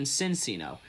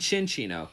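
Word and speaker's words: Cinccino: And why do people pronounce its evolution Cincino? It's Mincino and Cinchino.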